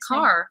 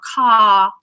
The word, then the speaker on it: car: don't pronounce it the in American English they would actually how would they say it car car car baby yeah so you'll have that but in British English we'll just elongate we'll just have a long vowel car car competitor rather